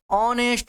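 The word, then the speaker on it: honest: यह क्या होता है नेस्ट नहीं होता हा नहीं होता है ऑनेस्ट होता है नेस्ट यह बोलते हैं इसको ए साइलेंट रहता है तो प्रो किससे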